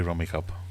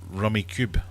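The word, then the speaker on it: Rummikub: Isn't it pronounced Rummy Cube? I don't think so. It may well be. I was raised on Rummy Cup, so it could be just what my gran called it.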